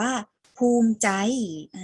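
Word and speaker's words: ภูมิใจ: อิ ใช่ ไหม คะ แต่ เรา ไม่ ออก เสียง สระ อิ เรา อ่าน ไป แค่ ตัว ม ม้า เป็น ตัว สะกด อ่าน ออก เสียง ว่า ภูมิ ใจ นัก เรียน ภูมิ ใจ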